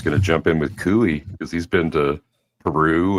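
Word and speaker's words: cuy: I figured Canadian Spider-Man was going to jump in with Kooie because he's been to Peru and other countries when we were talking about tribles.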